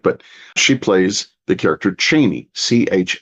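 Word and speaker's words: Chani: she plays the character Cheney CH h n i Frank Herbert you can hear his voice saying Cheney Cheney CH hard a c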